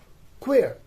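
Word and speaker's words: choir: that is chemistry another word we have that is spelled as c h o i r queer next word we have that is c h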